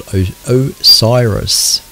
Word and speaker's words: OSIRIS: the satellite return mission, OSIRIS. I wasn't pronouncing that correctly either last time I read this article out. OSIRIS, I've been told that it's called OSIRIS.